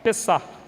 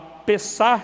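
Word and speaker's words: Pesach: acho que não está dando para pronunciar o CH, é P-E-S-S-A-C-H, Pessah, que significa passagem, a Pessah de Yahvé, a passagem de Yahvé pela terra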